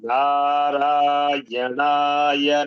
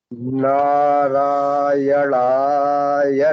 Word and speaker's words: नारायणाय: मैंने अभी समझाया, प्रत्येक अक्षर का उच्चारण करें: ओम, ना, रा, या, ना, या। यदि आप इसे इस प्रकार कहते हैं, तो उनके साथ जुड़ें: ओम नारायणाय नमः।